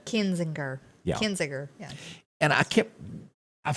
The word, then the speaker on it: Kinzinger: Over the weekend, the Republican Party censored Liz Cheney and Crying Adam, how do you pronounce his name? Kinzinger.